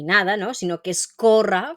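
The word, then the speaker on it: córrer: la pronunciación no es correr ni corra ni nada no sino que es corra fijaros en la acentuación Vale entonces corra lo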